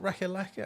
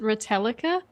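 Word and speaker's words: Ratalaika: I've always pronounced it Retallica, Oh, but actually, Well, it's spelled. is it R-A-T? Let me look how it's spelled. Got it here. It's R-A-T-A, Rata, L-I-L-A-I-K, K-A. Retallica, Retallica. I think.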